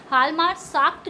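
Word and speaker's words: Hjalmar Schacht: Hitler assign the responsibility of economic recovery to the economist हवालमार साख्त। ये यहाँ पे जे silent है। हालमार साख्त जो थे वो एक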